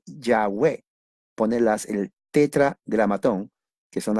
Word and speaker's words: Yahweh: Pero en realidad no es Jehová. se puede decir que la pronunciación es Yahweh o Yahvé.